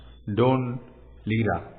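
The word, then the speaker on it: Dún Laoghaire: Take a DART railway from the city and visit the coastal village of Blackrock, the port town of Dunlawher, pronounced Don Lira, or the beautifully quiet coastal village of Dalkey, home to the Bonus Loco Club.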